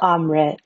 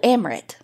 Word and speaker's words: Amrit: Or as Carrie likes to say, Amrit. After she told me it rhymes with omelet. Mm-hmm. And I said, oh, cool, Amrit.